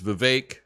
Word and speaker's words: Vivek: in your life because it's spelled vivec but I've heard your name said is Vivek it's a little tough for people but you know what